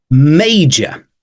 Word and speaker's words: major: Spanish speakers out there J J it's not it's not y it's j okay so M watch out for that and and also the r sound at the end we are using British